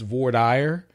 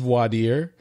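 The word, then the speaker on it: voir dire: of that word it's in Texas it's voire the the actual word is is vadir but it it's it's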